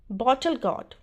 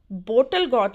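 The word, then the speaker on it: bottle gourd: बॉटल गॉड, लौकी, बॉटल गॉड, लौकी, बोटल गॉड नहीं, बॉटल गॉड, बॉटल गॉड, लौकी।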